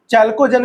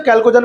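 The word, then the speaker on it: chalcogen: चैल्कोजन भी कहते हैं, बहुत लोग इसे कैल्कोजन पढ़ते हैं, ठीक है ना। मैं चैल्कोजन पढ़ता हूँ, प्रोनाउंसिएशन सबका अलग अलग होता है, कैल्कोजन पढ़ लो या फिर चैल्कोजन पढ़ लो, बात एक ही है।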